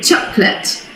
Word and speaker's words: chocolate: part of my life i hear many people saying chocolate or chocolate choco choco but we say chocolate chocolate so it's just two syllables and i understand it's